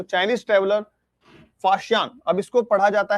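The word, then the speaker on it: Faxian: कि इसको प्रोनाउंस कैसे करना है तो इसको प्रोनाउंस करना है फाशियान तो आगे से इसको फाशियान पढ़ना ना कि फ़हियान अभी तक अभी तक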